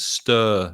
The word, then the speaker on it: stir: pronunciation quite tricky sometimes stir it's a very long sound uh like turn or l or burn stir you stir your tea